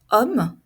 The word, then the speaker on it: homme: regardez ici la liais on ne prononce pas le H homme c'est le son a